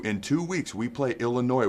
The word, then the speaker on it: Illinois: two weeks we play Illinois where the S is silent it's a Friday night